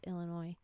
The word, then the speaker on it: Illinois: Don't by the way never pronounce the S at the end it's Illinois that's one of my